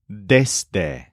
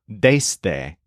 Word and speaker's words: desde: This place that you're crawling from is called desde. So this word has a stress on something that sounds like days. However, be careful about the pronunciation. It's not desde. Use a nice short E.